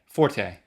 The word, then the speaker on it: forte: that is my Forte. Forte. French. Technically, it's just fort. The E was added incorrectly because so many people said it wrongly because they were looking at a musical term called a forte, and then the dictionary